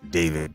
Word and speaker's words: D4VD: Singer D4VD, pronounced David Burke, has been arrested